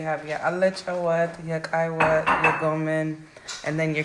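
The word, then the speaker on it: Kik Wat: And how do you pronounce it? This is a Kai Wat.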